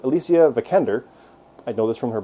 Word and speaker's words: Alicia Vikander: Alicia Vikander is how you say her name. I always said it as Alicia Vikander, but Alicia Vikander, I know this from her behind-the-scenes stuff, is awesome in this.